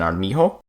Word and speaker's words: Armijo: J makes the sound of an H, such as in armijo.